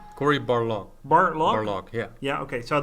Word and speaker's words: Barlog: I have Corey Balrog, did I pronounce it right? Cory Barlog.